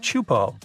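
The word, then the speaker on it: Teahupo'o: It's pronounced Chupo, and it means broken skulls in Tahitian.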